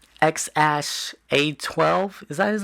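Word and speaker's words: X Æ A-12: you because you said the X is just X the AE thingy is pronounced like ash and then the a12 is like he had like a favorite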